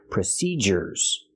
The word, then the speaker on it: procedures: the z sound but procedures has a different sound we use the hard J sound like in juice and jump procedures and why do we do this well when you have du in the middle of a word we normally use the J sound procedures let's see some